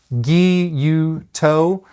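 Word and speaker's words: gyuto: Guuto is how I believe it should be pronounced. I say Guyoto.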